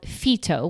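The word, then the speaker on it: Phyto: Another product that I was very recently introduced to is called FTO, which is spelled P H Y T O, and it sells natural hair products.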